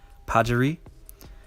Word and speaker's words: Pajaree: Her name is indeed pronounced Pajaree.